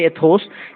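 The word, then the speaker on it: ethos: तो यहाँ पे जो ई इथोस लिखा हुआ, ए एथोस, एथोस की यहाँ पे इसके ए की जगह पे हमको क्या इस्तेमाल करना है?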